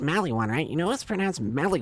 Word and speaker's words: Maliwan: You know it's pronounced Maliwan, right? You know it's pronounced Maliwan, right?